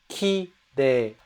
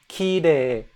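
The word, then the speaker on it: きれい: I showed you earlier, kirei. It's spelled Kirei, and you would think it's kirei, kirei, but actually it's pronounced kirei, kirei. You make the last vowel sound longer, you extend it.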